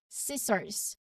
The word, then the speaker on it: scissors: So in these cases, the C is present in the spelling for historical reasons, but it's not pronounced. So this rule helps streamline your pronunciation for these common words. So let's practice saying these words aloud, making sure that C stays silent.